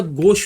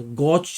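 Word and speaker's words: gauche: फिर सीधा गोश पे आएंगे, पहले प्रोनाउंसिएशन समझेंगे। गोच नहीं बोलना, गोच नहीं बोलना, क्या बोलना है? गोश।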